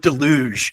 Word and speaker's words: deluge: it was an absolute Deluge of uh people offering their services see know I would say delu with the emphasis on the first salava I may have that